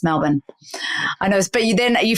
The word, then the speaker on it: Melbourne: Australia which you Americans it's not Melbourne it's not you're in melbour melin melbour even though it's spelled there's no R there is it's b o u r n e so Americans like Melbourne I was like that's